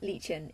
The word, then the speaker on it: Lichen: so my OC became Legion even though it's spelt exactly the same way as lichen that for my OC